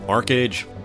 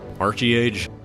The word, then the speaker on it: ArcheAge: age Arch age Arc age Archie age no one really seems fully decided on how they want to pronounce it I'll probably just jump around with pronunciations archage is a prototypical